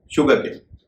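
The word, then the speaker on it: sugarcane: है ना कि स इससे जुड़े जो शब्द है वहां पर भी एस का उरण श होगा जैसे एस यू जीी ए आर सी ए एनई शुगर केन यानी गन्ना यहां पर भी श होगा क्योंकि यह शुगर से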